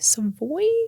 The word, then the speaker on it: Savoy: Thai Jasmine Savoy Brown I believe that's how you pronounce her middle name s-a-v-o-y some boy that's what I went